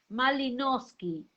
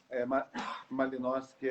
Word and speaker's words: Malinoski: de conhecer quem é realmente o pastor Malinowski. E esse sobrenome, de onde provém? Pronunciou correto, é difícil, né? De onde que é? Malinowski é polonês, né? A família do meu pai é polonês, então Malinowski é polonês.